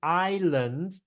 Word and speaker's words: island: lived on a lonely island island we don't pronounce the S Island I would run